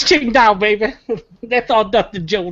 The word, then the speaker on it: Qingdao: Now, the correct pronunciation, just for Matt, because I know Matt likes to hear this, but I think it's Qingdao.